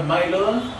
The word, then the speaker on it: Smylodon: Smilodon con S al principio y tiene una Y. Es una Y, es Y, se pronuncia I. Smilodon.